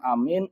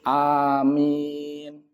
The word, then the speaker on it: amin: Yang pertama adalah memanjangkan A. Jadi amin a-nya panjang dua harakat karena dia adalah mad badal. Amin. Yang kedua adalah qasar. A-nya pendek. Amin. Ini kedua-duanya boleh. Wal maddu afsah. Namun kata beliau yang memanjangkan a itu lebih fasih.